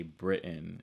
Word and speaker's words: Britain: Someone keeps commenting, not someone, but several people keep commenting that the way I say Britain is without enunciating the T, aspirating Correct, the T.